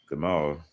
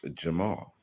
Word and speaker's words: Jamal: Gamal actually is a very humble person. Now, I'm saying it according to how I would pronounce it now. However, his name is Jamal.